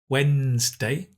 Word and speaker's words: Wednesday: We don't pronounce the D. Wednesday.